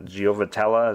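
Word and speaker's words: Giavotella: you say his name giova giovatella is how you say his name johnny giovatel johnny giovatella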